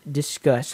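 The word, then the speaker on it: Disqus: thing um so je we've used discuss I think that's how you say it is d i s q us that's one of those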